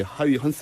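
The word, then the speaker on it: Huygens: 두겠습니다 교환합니다 뭐래 드리죠 영어식 말을 하는 사람이 있는데 얘는 옛날 사람이 지금 또 2째주 먼 네덜란드 발음으로 바꿔서 이렇게 하위 헌트 라고 불러주세요 2분이 뭐냐면 토성의 가장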